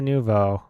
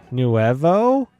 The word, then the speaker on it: Nouveau: You had a friend who pronounced it as Nuevo? What? Okay. And she mained it. She mained it Try Nouveau.